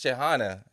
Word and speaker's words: Shehxana: So we have, it's Shehxana. Shehxana. Oh, I said it right. You did. You did say it Yes, right. and you said it better with the accent, though. It sounded Shehxana.